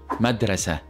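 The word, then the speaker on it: مدرسة: one in the word madrasa madrasa which means School in Arabic now notice how when we pronounce it this sweat we pronounce it with the hey sound so we said so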